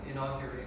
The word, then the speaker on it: inaugurate: What's the proper pronunciation? Inaugurate. Inaugurate when Solomon inaugurate inaugurate